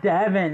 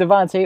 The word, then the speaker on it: Devonte: some money yeah what it's not Devon it's still vont 800 say Devin cuz I'm I can't say my name yeah okay so me and Devonte or devin is playing